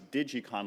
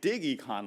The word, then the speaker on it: DigEcon: Actually, I always thought it was DigiCon Lab, but apparently it's DigEcon Lab. I think that sounds a lot better. It's definitely more groovy to say DigEcon Lab. So either way, however you pronounce it, it's spelled DIGECONLAB.